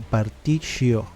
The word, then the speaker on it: Partitio: Y al final tengo razón, se pronuncia como Partitio, como una sh al final.